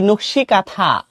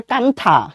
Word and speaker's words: নকশি কাঁথা: এই নকশি কাঁথা, দেখো উচ্চারণ কিন্তু মানে অনেকে এরকম করতে পারে কান্থা, ঠিক আছে, এরকম কিন্তু করা যাবে না, কান্থা না কিন্তু, বুঝছো, এটা কিন্তু নকশি কাঁথা, বুঝছো। এখানে হচ্ছে তোমার এই এনটা অনুচ্চারিত আছে।